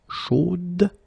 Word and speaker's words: chaude: You will have to put this final e, chaude, okay, at the end, and then the pronunciation will change a little bit, chaude. So here you pronounce the final d, whereas in the masculine form you don't pronounce it.